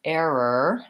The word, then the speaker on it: error: back American sound so even though it's spelled with low our error has an A for the second vowel and for the first of all it has the diphthong air so I'm saying it as air or air or so